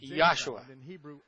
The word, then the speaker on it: Yahshua: Eu pronuncio o nome de nosso Messias claramente como Yahshua. Não há J em hebraico ou grego, e Jesus não tem significado nenhum em hebraico.